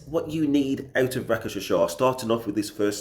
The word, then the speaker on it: Rakshasa: Okay, so I'm going to do a quick video just summarizing my experiences, my recent experience with RAKSHASA. That's an official pronunciation, but also known as R1.